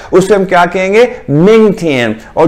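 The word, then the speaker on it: 天: ये देखें, ये टी आई ए एन है, ये टी की आवाज को कैसे प्रोनाउंस किया जाता है, थ से। तो टी आई ए एन हम कैसे प्रोनाउंस करेंगे, हम प्रोनाउंस करेंगे थियन।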